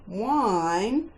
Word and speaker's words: whine: Now, can you remember the 3 other common words with a silent H? While, whether, as in whether or not you know the answer, and whine, when you are complaining.